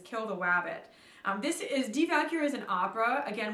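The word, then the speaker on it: Die Walküre: the wabbit this is devalucure is an opera again we have a word that starts with a w so it's pronounced like a v d cure this is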